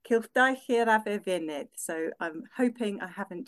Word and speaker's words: Cylchdaith Yr Afr Fynydd: But the Mountain Goat Circuit is in Welsh pronounced Cylchdaith Yr Afr Fynydd.